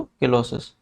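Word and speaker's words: cheilosis: ठीक है, spelling C से चिलोसिस है, लेकिन पढ़ते क्या है इसको, किलोसिस।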